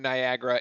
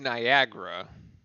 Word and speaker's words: Niagara: a foul there on Niagara. That will be their first. Anybody else feel like it's pronounced Niagara, but it's spelled Niagara. It's like has an extra A, and that really like threw me off when I was doing the spelling.